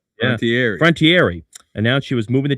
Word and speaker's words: Frontiere: It was then Los Angeles Rams owner Georgia Frontiere. It's a French pronunciation. Frontiere announced she was moving the team to St.